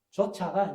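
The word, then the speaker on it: 좇아: 하나님의 뜻을 따라 뜻을 조차가 이제 우리가 잘못 발음하면은 쫓아라고 그렇게 보내요. 쫓아하면 쫓아내는 거하고 쫓는 것하고는 전혀 내용이 다. 쫓아내는 건 밖으로 밀어내는 게 쫓아내는 기고 쫓는 것은 따라가는 거예요.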